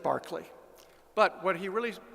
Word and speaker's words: Berkeley: Unfortunately, this is an example, very common in England, of Englishmen not knowing how to pronounce their own surnames. It's Berkeley, but he said Berkeley.